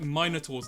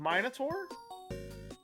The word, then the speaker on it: Minotaur: hired like minotaurs and stuff. So I didn't think that was the ant one. oh right, that wasn't Combated Ants. Okay, now if we want to talk about pronunciation, Minotaur?